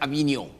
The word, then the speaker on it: Avignon: This word is pronounced Avignon. Avignon Papacy This means what is historically known as the Great Division.